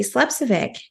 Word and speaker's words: Slepcevic: So, please help me welcome the lovely Tracy Slepcevic.